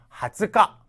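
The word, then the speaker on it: 二十日: 때 20이라고 했을 때도 역시음 훈과 관련없이 그냥 예외로서 하츠가 하츠가라고 읽어 주셔야 된다는 겁니다 그다음에 달력에 있는 2일일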